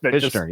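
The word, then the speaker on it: Fichtner: Boy, just Fner. Yeah, ignored the T. Just Fisher. Oh, okay. I like that. Ignore the T.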